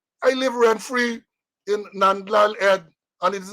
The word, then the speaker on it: Nandlall: l e l l so you should always say n e and d a l a l l so let me correct